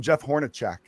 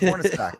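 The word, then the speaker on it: Hornacek: in the 90s he would always call him Jeff Hornet I'm like it's hornack he's like I know polish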